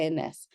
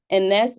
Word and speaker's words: Enesse: Well, my real name is, but professionally I go by Enesse. Enesse is Enesse, but it's the phonetic pronunciation of my name or my initials.